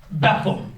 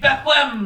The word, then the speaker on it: Bethlehem: if you're not familiar betham is like a way B HL M you know is a way that people who are from here will say it and that's the right way to say it and then you have an argument online that no you're supposed to say it Bethlehem or whatever it may